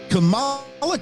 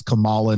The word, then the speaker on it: Kamala: the way even even Kamala Harris goes back and forth on her own pronunciation okay well the the comic book character it's been established as Kamala not Kamala but I just can't